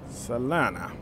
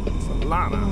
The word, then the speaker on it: Salina: Salina. I'm not even sure if I'm saying it right. Salina? Salina? That's what somebody told me it was, Salina. Salina.